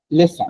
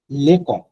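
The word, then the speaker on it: leçon: হয়, কিন্তু আপনার হচ্ছে যখন এই সি দিয়ে থাকে তখন অটোমেটিক্যালি সাউন্ডটা হয়ে যায় ছ এর মতো, ছ এর মতো। যদি আমি এখানে ধরেন যে এই একটা ওয়ার্ড আছে লেসন, লালেসো। লা লেসন, তো আমি লেসনটাকে এইভাবে লিখলাম, লা এল ই সি ও এন, এটা হয়তো লা লেকন। না, this not a word in French.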